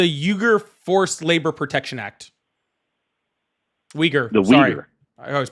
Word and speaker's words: Uyghur: Uyghur. The Sorry. Uyghur. I always pronounce it wrong. No, Uyghur.